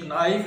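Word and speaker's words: knife: इसको यूं पढ़ें जिस तरह उर्दू में ये नाइफ लिखा हुआ है तो ये इसका दुरुस्त तलफ़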